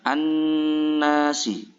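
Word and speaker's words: النَّاسِ: di sini adalah kalimah an-nasi. Kata an-nasi dinamakan mengandung hukum bacaan alif lam syamsiah karena di sini ada alif lam bertemu dengan nun. Cara membacanya yaitu dengan dibaca lebur. An-nasi.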